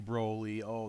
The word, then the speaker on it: Broly: off with my pronunciation you know it's supposed to be Brolio that's how Funimation pronounces it that's how it's pronounced you know over well I've always pronounced it broadly and it's kind of